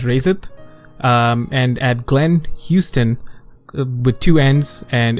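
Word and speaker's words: Huston: it and at Glenn Houston with two ends and it's spelled like hustin hu sto n but pronounced like Houston good job yeah you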